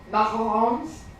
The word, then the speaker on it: macaron: well I feel like I would say Vegan macarons that's how you pronounce macaron but um but I feel like